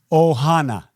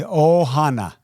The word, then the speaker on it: ohana: Ohana. Say it after me. Ohana. Ohana.